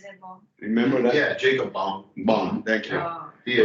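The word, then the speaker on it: Jakob Böhme: Justin, how do you pronounce, Jacob Bohm? Is it Bohm? Remember that? Yeah, Jacob Bohm.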